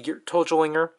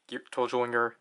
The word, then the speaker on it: Geartozinger: Toji Tendo, but obviously the G is romanized as a ZI, and we know in Japanese Z's are typically pronounced with, I think it depends which characters are together, but like certain characters with a Z, you have to pronounce them as J's.